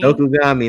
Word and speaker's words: Dokugami: Dokugami, like origami.